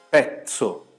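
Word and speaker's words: pezzo: A primeira é petso e a segunda é medzo. Tudo bem? Então, uma eu fiz com ts, a outra eu fiz com dez.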